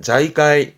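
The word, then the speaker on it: 財界: 발음은 자이까이 자이까이 뒷글자가 단자죠.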